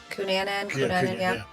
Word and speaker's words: Cunanan: Cunanan, yeah.